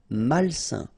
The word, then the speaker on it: malsain: A-I-N together, it's a nasal and it's un. Malsain.